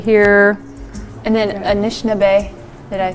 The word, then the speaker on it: Anishinaabe: Picture glass, I do believe you'll see etchings in the stone of our Anishinaabe. Had it created different pictures, and of course our Anishinaabe right here. And then Anishinaabe, did I pronounce that correctly?